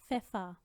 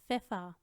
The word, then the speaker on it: Pfeffer: PF जब इकट्ठा हो तो उसमें पी साइलेंट हो जाता है और हम सिर्फ फ साउंड देते हैं। Zum Beispiel Pfeffer, Pferd, Pfeffer, Pferd।